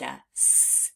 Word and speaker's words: as: That's why we pronounce the word as with the Z at the end.